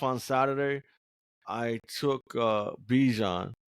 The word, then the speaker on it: Bijan: Um, in my draft on Saturday, I took uh Bejon or Bjon as he's his real name is pronounced.